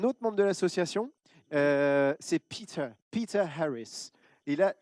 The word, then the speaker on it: Peter Harris: C'est Peter Harris. Et là, je me permets de prononcer à l'anglaise parce que voilà, il n'y a pas que des Français dans l'assaut.